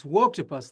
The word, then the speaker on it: Woketopus: Uh, the new book is called Wokus. I hope I'm pronouncing that the way you intended. So, tell us about the new book and why people should read it. Yeah, it's Woketopus, like woke octopus.